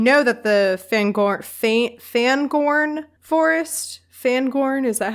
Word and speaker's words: Fangorn: And we know that the Fangorn Forest, Fangorn, is that how you say it?